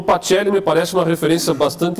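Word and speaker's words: Pacelli: pachelli de Oliveira Eugênio pelli com c patelli pronuncia italiano né de Oliveira que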